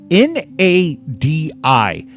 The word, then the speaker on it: Nadi: N-A-D-I. How does any normal human pronounce N-A-D-I? Nadi.